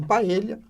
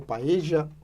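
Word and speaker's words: paella: em primeiro lugar em paelha né ou paeja como se fala aqui mais no no no na América do Sul eh mas se esquece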